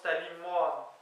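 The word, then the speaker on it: tali moan: Eh bien c'est Talimoan, semble-t-il, T-A-L-I, espace M-O-A-N, mais qui se prononce Talimoan, semble-t-il.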